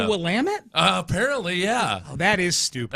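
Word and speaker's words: Willamette: Oregon oh really and it's the wamit river instead of willamet which is dumb it's the willamet Apparently yeah that is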